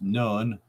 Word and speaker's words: Nun: As already mentioned, the Hebrew letter N, Nun, pronounced Nun, is the same in Egyptian language and means fish or prince, the making of royalty.